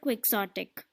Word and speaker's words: quixotic: Quixote എന്നാണ് Spanish pronunciation വരുന്നതെങ്കിലും when the word came, we got a word in English, and this is not Quixotic but quixotic. That is pronounced as quixotic.